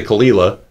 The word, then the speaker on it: Caol Ila: And I still get people arguing with me that they're not that I'm not pronouncing them, but I say Kalila.